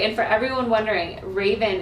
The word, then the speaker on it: Rayvan: and for everyone wondering raven is spelled r-a-y-b-a-n yes thank you group dot com but it sounds like the bird sounds like you've called